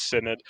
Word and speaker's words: synod: I couldn't figure out if it's pronounced synod or synod or synod or synod. Yeah, no, it's synod.